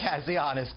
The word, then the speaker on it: Kazianis: the Center for National Interest, Harry, can you pronounce it for me, sir? Kazianis? Kazianis.